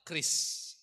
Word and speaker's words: QRIS: itu ada Q, ada Kris Code ya. Bacanya ada yang bilang QRIS, ada yang apa, tapi ternyata pemerintah sudah menyatakan yang betul bacanya adalah Kris ya. Jadi Kris gitu aja bacanya.